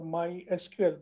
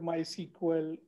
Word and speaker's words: MySQL: market and the name of my sequel or my sql this is the confusion what we should call so the batteries my sql okay but people call called my sequel okay so better pronunciation is mysql this is